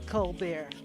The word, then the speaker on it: Colbert: It's spelled Colbert, but he pronounces it Colbert.